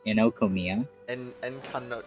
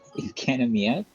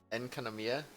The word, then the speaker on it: Enkanomiya: Did you just say Enokomiya? How the frick do you pronounce it? Enkanomiya? Enkanomiya? Yeah, there's an A in there.